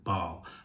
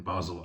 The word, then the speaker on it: Basel: of Basel um or if you want to put in the French speaking Bal but given that the majority speakers in uh in Basel are German speaking I will stick with the German pronunciation of it and it will be